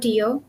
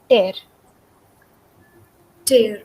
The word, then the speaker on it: tear: it so uh the the spelling is the same but the pronunciation is different and the meanings are different tear means that cut